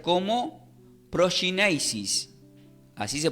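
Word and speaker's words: προσκύνησις: Y del griego se pronuncia como proskynesis. Así se pronuncia, proskynesis, lo voy a deletrear, P-R-O-S-K-Y-N-E-S-I-S, que significa adoración y reverencia.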